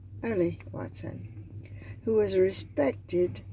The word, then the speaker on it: Earl Lee: When pronounced, it always came out Early Watson, who was a